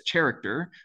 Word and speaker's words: character: short for character and nobody says character, they say character.